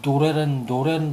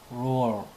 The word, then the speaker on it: lore: 저도 이게 노래는 줄 알았어. 노래. 근데 원어를 한번 들어보십시오. 노래가 아닙니다. roar. 하죠.